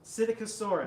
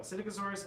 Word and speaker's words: Psittacosaurus: It actually entirely jogged my memory that it might be hard to pronounce Yeah. because it starts with a P.